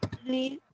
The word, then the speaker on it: later: Oke, jadi kalau letter ini cara bacanya adalah di tengahnya ada huruf I. Udah kayak bule toh. Later.